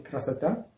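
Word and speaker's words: красота: Donc, on écrit krasota, mais on lit krasata.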